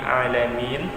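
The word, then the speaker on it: العالمين: Akhir ayat ini alamin. Di situ ada huruf nun. Jadi huruf nun ini dia harus dibaca, tidak boleh terputus nun di ujungnya.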